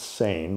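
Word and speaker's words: SAEN: stop animal exploitation now s-a-e-n pronounced sane like you know sane or insane but it's s-a-e-n and the organization is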